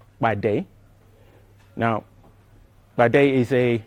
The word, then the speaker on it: Pàdé: will go yet ba the P has to be explosive so it actually means